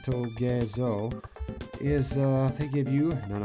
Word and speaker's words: Togezo: These Togezo enemies, yes, that is how they're pronounced, Togezo, is, they give you none other than Needle ability, another Kirby mainstay.